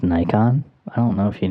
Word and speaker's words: Nikon: it's so basic Dustin um it's it's actually pronounced nikon i don't know if you knew that this